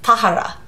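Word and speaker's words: Tahereh: me trilogy by tahara i watched her pronounce this it's tahara yeah tahara um so the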